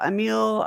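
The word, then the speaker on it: Émile: the collective intelligence uh a meal or i know i think it's a meal is how uh it's pronounced emil durkheim is is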